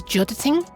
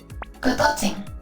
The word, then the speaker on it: Godot: I'm guessing it's Jodating. But let's just double check. Godotting. Oh, okay. I messed it up.